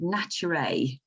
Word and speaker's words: Naturae: I pronounce it Naturae. Ah, right, yeah. As in, it should have a Y in it, but it's got an AE on the end.